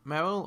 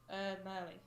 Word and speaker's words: Merly: It looks like it'd be Merle or something. Yeah, but Mhm. it's Merly.